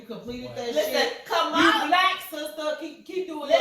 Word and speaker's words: Kamala: It's not Kamala, and there have been reports. It's Kamala because it's Indian.